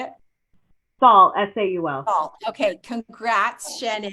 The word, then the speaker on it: Saul: Yeah, it's pronounced Shannon. Okay, and your last name, how do you say it? Saul, S-A-U-L.